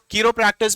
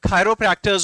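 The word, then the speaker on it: chiropractors: और ये जो कीरोप्रैक्टर्स भी नहीं बोलते, प्रोनाउंसिएशन जो होता है इनका खायरोप्रैक्टर्स होता है, खायरोप्रैक्टर्स, ठीक है, आपको समझ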